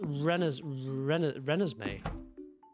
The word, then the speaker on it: Renesmee: It's pronounced Renesmee.